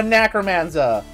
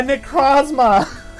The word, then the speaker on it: Necrozma: A Necromanza, A Necros. No, I said that wrong. A Necrozma.